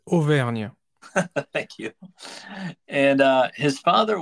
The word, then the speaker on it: Auvergne: He was born in September 1757 in a south central France province called, and I'll let you pronounce it. Yeah, it's Auvergne.